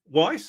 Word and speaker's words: Weiss: so what Dave wh Dave Weiss I guess or vice it should be if he's pronouncing it the German Way it going hey uh